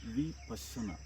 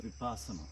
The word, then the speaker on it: Vipassana: The word is pronounced Vipassana. It's pronounced Vipassana. Sounds like asana, something to do with yoga.